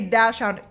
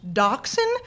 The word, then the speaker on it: dachshund: No, I literally thought that was a dash hound. Come to find out, it's spelt like dash hound. It's pronounced dachshund.